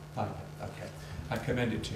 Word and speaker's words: Wajda: Is that how you pronounce it? Andrzej Wajda. Wajda, okay.